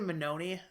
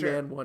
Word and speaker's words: Manown: So it's B it's actually Manown. So I know I I know how to say it. Okay. I'm just making sure. I just think man one is funnier.